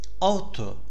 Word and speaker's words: ought: Auto, meli, malı. Okunuşu auto'dur. Shoot ile benzer anlamdadır.